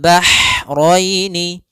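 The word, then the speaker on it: الْبَحْرَيْنِ: Hati-hati jangan terbaca dengan ha besar. Jangan marojal bahraini ya kan. Karena dia huruf ha kecil. Bagaimana pelafalan hak kecil? yaitu hak atau bisa kita sebut dengan hak pedas, yaitu ee adanya aliran nafas yang kita lafalkan dan dia lembut. Ah ah maka bah marojal bahroini marojal bahroini yaltaqian.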